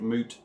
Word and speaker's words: Mout: are looking at is old moot cider I believe that is a what you how you pronounce it not old Mountainside or I believe it's old moot but if I'm wrong let me know uh established in Nelson New